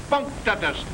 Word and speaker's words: punctatus: Octopus punctatus, accent on the punk.